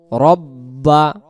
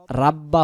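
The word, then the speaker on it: رَبَّ: ফালিয়াবুদু তখন শুধু দাল রব্বা রব্বা রব্বা রাব্বা হবে না রা বললে র জবর রা হয়ে যাচ্ছে এখানে শুদ্ধ উচ্চারণ রব্বা হাজাল বাই হাজাল হা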